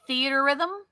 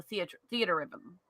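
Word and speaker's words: Theatrhythm: I think it's supposed to be theater, as in like not TER, Yeah. but theatra, like y'all spell it TRE, and it's a combination of the word theater and rhythm, so theater rhythm.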